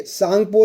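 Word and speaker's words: Tsangpo: अगला क्वेश्चन देखिए, तिब्बत में किसका दूसरा नाम सांगपो या तसांगपो है? देखिए सांगपो, तसांगपो, ये ता जो है साइलेंट होता है, तो यहाँ पर सही आंसर क्या हो जाएगा?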